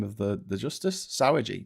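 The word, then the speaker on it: Sauer: Sour. No. Sour. It's spelled S A U E R.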